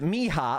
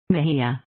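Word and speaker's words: Mejia: this is really embarrassing Mahia Mahia okay J is like an H okay we're learning it Mahia okay we're learning I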